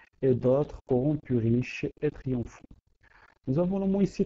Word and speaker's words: triomphant: Pour maintenir les alexandrins, il faut prononcer triomphant pour avoir trois syllabes et non pas triomphant.